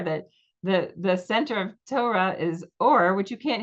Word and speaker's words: Torah: To oe r a T tora. Um, if you say Torah, you're like right away branding yourself of member as members of certain communities.